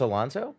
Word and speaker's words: Alonso: um growing up they always said my last name wrong and everything it's Alonso yeah Alonso yes yes correct did I do